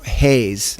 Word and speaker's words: Hayes: why it's named are spelt funny but it's Hayes so not Haines but like William H a so it's Havenhurst and